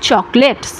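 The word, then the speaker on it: chocolats: এস আপনি যোগ করছেন কিন্তু উচ্চারণ করছেন না। দেশকলা দে হ্যা চকলেট তাদের চকলেট আছে।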